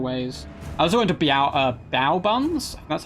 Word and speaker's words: bao: I also went to Bao Buns. That's how you pronounce it.